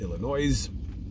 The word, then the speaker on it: Illinois: the great state of Illinois. Don't pronounce the S.